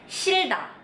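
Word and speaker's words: 싫다: Jadi ini dibaca shilda. Shilda.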